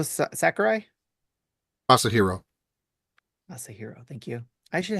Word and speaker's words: Masahiro: I apologize to any Russians listening to this if I butchered that name. Hoots says Masario Sakurai? Masahiro.